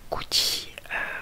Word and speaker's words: Gucci: Donc Gucci, comme vous le savez, à la fin c'est un C et un I, ça se prononce chi.